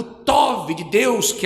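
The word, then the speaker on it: טוב: Em hebraico significa a palavra tov. É assim que se pronuncia bom, significa tov, agradável, excelente, benéfico.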